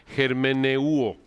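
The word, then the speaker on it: ἑρμηνεύω: La palabra hermenéutica, como lo pueden ver aquí en la transparencia, viene de la palabra griega, se pronuncia germeneuo.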